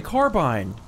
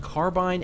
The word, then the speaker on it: carbine: up in the dictionary it can be pronounced both carbine and carbine it is okay I am allowed to say carbine and I I usually